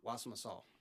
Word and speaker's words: Wassamassaw: Wassamassaw? Wassamassaw.